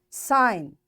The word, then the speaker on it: sign: Sign. G is silent.